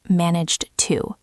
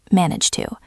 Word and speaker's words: managed to: A lot of learners say managed to with a very strong D sound at the end of managed. But in natural speech, that D almost disappears into the T of the word to. It sounds like one word, manage to.